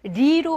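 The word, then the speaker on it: 梨: 정말 그 시원한 배가 리로 발음이 돼요.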